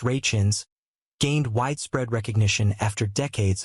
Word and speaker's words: Rachins: For his parts on the two shows, Mr. Rakins, pronounced Rachins, gained widespread recognition after decades of trying to make a name for himself as an actor.